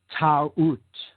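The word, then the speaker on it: Taurt: Ta'ut, T-A-U-R-T, Ta'ut. Now, in other traditions in the Middle East, her name phonetically morphed and became, instead of Ta'ut with a U-R-T, we have a reversal, and it became Ta'ut, or with a soft T sound at the end.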